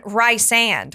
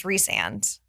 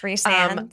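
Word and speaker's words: Rhysand: name kale kale chho and then and then Ry sand which is reand that's I pronounce it Ry sand until I listen to somebody else say it and I go that's embarrassing yeah it's reand okay so Ana Taylor joy for her very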